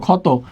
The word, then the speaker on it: ক্ষত: ঠিক আছে, আমরা যদি বলি ক্ষত, তাহলে উচ্চারণটা কি হয়? খ তকার্ত, ক্ষত।